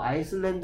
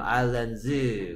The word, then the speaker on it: islands: 오케이, 그 다음에 얘는 뭐라고 읽어야 되냐면 얘를 읽으라고 하면 뭐 아이슬란드 이렇게 읽는 애들이 있는데요. 아이슬란드가 아니고 뭐다? 아일랜드죠. 아일랜드. 복수형이네요. Islands.